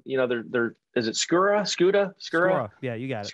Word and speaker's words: Skura: And the inside guys, you know, Billy Price, Hernandez, the kind of, you know, they're is it Skura? Yeah, you got it. Skura. I always get his name wrong.